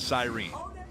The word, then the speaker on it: siren: you pronounce it because it's a siren in my world well i will get a lot of heat on social media because in dawsonville they call it the cyrene and then i coming